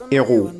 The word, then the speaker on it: héros: Tienes que pronunciarlo, ce sont des héros. O sea, no pueden unirse porque es una H aspirada.